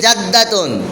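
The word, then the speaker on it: جدة: দুজনকে জাদুন বলা যায় হ্যা জিম দাল জবর জাদ জবর জাদ দাল জবর দা দাল জবর দাদ উচ্চারণ জাদ্দা জাদ্দা জাদ তা দুই পেশ তুন তা দুই পেশ তুন উচ্চারণ জাদ্দাতুন দাদি নানী দাদি দুইজনে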